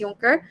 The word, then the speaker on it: Junker: So, sa nationalismo, ang mga Junker or Junker, how do you pronounce it? It's Junker.